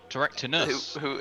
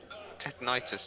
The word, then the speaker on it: Teractinus: Teractinus. Yeah, Teractinus. Who everyone seems to mispronounce as Tetanitis and Tinnitus, that was it.